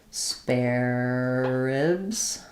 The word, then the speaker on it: spare ribs: In reality, we're probably going to say like spare. So this is um like a spare tire or an extra spare. It has the air dip thong. Um and then we're just going to run this these two Rs together.